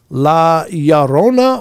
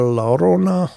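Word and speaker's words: Llorona: going to go to LA yarona or Lona how however I think the two L's is a y so I'm going to pronounce it that way Laona and uh where is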